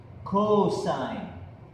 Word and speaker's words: cos: hypotenuse the next formula is cos which is pronounced cosine the cosine of an angle is equal to